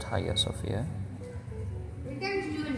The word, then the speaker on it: Hagia Sophia: istanbul it's a written hagia sofia but it's pronounced haiya sofia are you guys which is also a